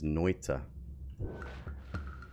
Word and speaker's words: Noita: this game uh is noita uh it's a finnish word which means witch uh and funnily enough